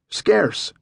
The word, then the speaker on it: Scarce: Scarce, just like the word scarce, Herman replied.